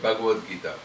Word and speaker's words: Bhagavad Gita: Bhagavat Gita is two different words. Bhagavat is coming from Bhagavan. Gita is a song. When you join together, you get Bhagavad Gita.